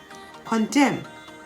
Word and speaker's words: condemn: season of the year a-u-t-u-m-n autumn the n is silent column c-o-l-u-m-n him h-y-m-n condemn c-o-n-d-e-m-n how about silent p-words coo c-o-u-p the